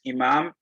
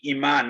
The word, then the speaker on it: imam: different but in general this is imam and iman and many people call me iman i don't know why because i'm not fake right so just see